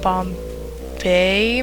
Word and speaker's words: Bombette: I think some people like pronounce her name Bombay, maybe? I don't know. I've heard like a million different ways to say this name, but I always said Bombette, so I don't know.